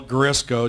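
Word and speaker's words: Garisco: for an office because it's spelled g a r i s c o somehow my Italian relatives love vowels so when you see it just think of of Crisco oil grisco just put a g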